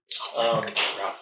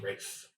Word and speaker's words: Ralph: Ralph Fiennes, man. Ooh. Rafe Fiennes. Because Ralph is pronounced Rafe, apparently.